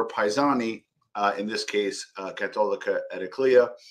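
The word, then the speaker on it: Cattolica Eraclea: It's called, let me just make sure I pronounce this correctly, Catolica Ediclea.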